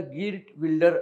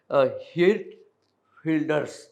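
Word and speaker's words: Geert Wilders: त्या पार्टी चा प्रमुख त्याच जर स्पेलिंग तुम्ही बित तर त्याचा उच्चार गर्ट बिल्डर असा होईल पण डच भाषेत त्याचा उच्चार र्ट फिल्डर असा होतो डच भाष म उच्चार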